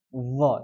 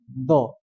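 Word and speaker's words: ظ: Tapi dho itu cara bacanya dialirkan ya. Dho. Jadi bukan do. Jadi dia mengalir. Dho.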